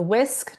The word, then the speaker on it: WISC: There's the WHISK, WISC.